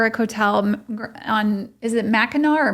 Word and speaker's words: Mackinac: hotel on Is it Mackinac or Mackinaw? Some people pronounce it with the C at the end and then we Mackinac Island.